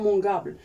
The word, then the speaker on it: mangeable: زدنا هاد e seulement la prononciation. يعني لما درناهاش غتقرا mangeable.